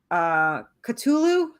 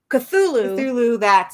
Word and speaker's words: Cthulhu: Travis Gibb, who shout out to Cthulhu. That's how you say it, right? Did I say that wrong? Cthulhu, so I did say it wrong.